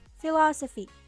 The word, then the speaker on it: philosophy: is pronounced stronger philosophy philosophy the stressed syllable is the second one easy right how about